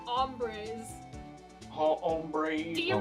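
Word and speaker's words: hombre: breze yeah that's how H in the beginning is silent Ryan ombr ombre do you not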